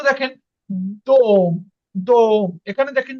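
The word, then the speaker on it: дом: এই দেখেন, এই জন্য এখানে কিন্তু দাম হয়নি, এখানে হয়েছে দোম, দোম।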